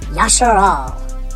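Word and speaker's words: ישראל: The third Hebrew word is one I'm sure we're all already familiar with, Yasharal, also known as Israel. It is spelled Yod, Shin, Resh, Aleph, Lamed.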